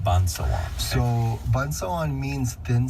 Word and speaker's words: Pânsâwân: It is actually pronounced Pansawan. Pansawan.